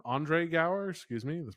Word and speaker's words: Andre Gower: Uh, Sean's played by Andrew Gower. Andre Gower, excuse me. That's pronounced.